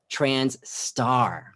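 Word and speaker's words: trans*: asterisks it's actually pronounced not trans asterisk because most trans people say i'm not an asterisk but trans star that's what that means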